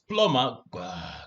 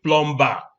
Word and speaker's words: plumber: and call the plumber here go and bring plumbar bring two plumbar the be is silent and the be is also silent in this one bomber so this one is plumber can you get me a plumber not get